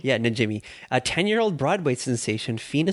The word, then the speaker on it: Najimy: Najimy. Yeah, Najimy.